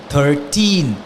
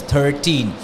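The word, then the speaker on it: thirteen: the last four letters 13 just emphasize on the last four letters 13 at the same time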